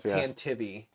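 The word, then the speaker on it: Tantive IV: blue together just uh tantive although apparently it's it is like canonically pronounced tan or something stupid like that I don't know in the ' 80s in the Audio Drama yeah they said tantivy oh yeah tantivy a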